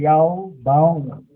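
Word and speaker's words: יון: Pinalitan lang yung J ng Y. Pero ang bigkas niya ay Yaw-bound. Yaw-bound.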